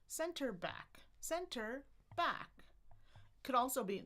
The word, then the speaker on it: center back: And you might see stress shift over the years. So we've got center and then back. Center back.